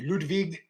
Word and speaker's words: Ludwig: we got Sheamus versus Ludwig Kaiser excuse me ludvig I got I got talked to about my pronunciations a while back ludvig